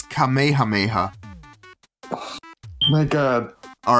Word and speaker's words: Kamehameha: how you say it I know that's not how you say it but it's GHA had KS in it GHA GHA all right but but but it has KS doesn't matter actually it does it's kameha Mayha my God all right